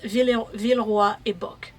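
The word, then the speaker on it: Villeroy & Boch: I don't know how you pronounce it in English. In French, it's Villeroy et Bock.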